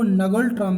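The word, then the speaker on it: ngultrum: इसकी राजधानी थिम्पू है और यहाँ की जो मुद्रा है वो नगल ट्रम है, नगल ट्रम, लेकिन एन यहाँ साइलेंट रहता है इसलिए आप कुल ट्रम भी याद रख सकते हैं।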